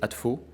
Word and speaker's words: ADSFO: Prononcez ADFO et gardez le S au service de votre sécurité.